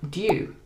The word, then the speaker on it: due: It's the same with the word due. So in American English, they would use the oo sound.